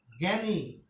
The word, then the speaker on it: জ্ঞানী: তারপর দেখো তো জ্ঞানী।